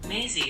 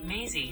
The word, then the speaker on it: Maisie: Maisie is driving her bus today. Bus stop number 5. It's time to get off, everyone. 발음 공부를 시작하고 처음으로 메이시가 아니라 메이지라는 것을 깨달았다.